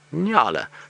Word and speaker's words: nyala: how to say it if you're in America then you just need to remember New York and La n y a l a and then you say Nala so we'll do it